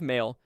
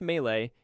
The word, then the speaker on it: Malé: The capital city of Malé, pronounced May-lay, is one of the